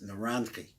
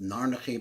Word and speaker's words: Naranchi: When we pronounce this, Naranchi. And Naranchi represents the Oros. It means the panemius of all reality. Besides the interior to these Oros, which are called Naranchi, I've heard it pronounced Narnachi, but I'm not going that route. Just Naranchi.